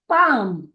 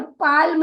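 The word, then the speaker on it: palm: ठीक है, तो पी ए एन एम हो जाएगा पाम। पाम। यहाँ पर एल ये जो वर्ड है वह साइलेंट वर्ड है, इसीलिए हम एल को भूल जाएंगे और पाल्म नहीं बोलेंगे, पाम बोलेंगे।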